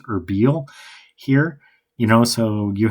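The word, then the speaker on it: Erbil: So I think like with the first scene in Sanjar, he would have been like around uh I think it's actually pronounced Herbiel here, you know.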